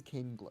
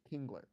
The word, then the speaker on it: Kingler: Oh, I think it is Kingler. King like like an angler. Like an angler, right? Angler fish. Kingler.